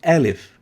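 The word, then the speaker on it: ألف: fast fast fast and it's named alif as in alift alif remove the t and keep alif alif alif alif alif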